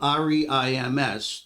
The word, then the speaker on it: Reims: Even though it's spelled R-E-I-M-S, the French pronounce it Reims.